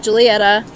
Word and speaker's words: Giulietta: There's no J in their alphabet, so the GI stands for the J. So just think like Romeo and Juliet, but Gulietta.